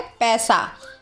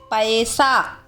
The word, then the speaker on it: पैसा: लेकिन आजकल बोलचाल की भाषा में इसे कैसे बोला जाता है? पैसा, जो कि सही नहीं है। क्या सही उच्चारण है? पैसा।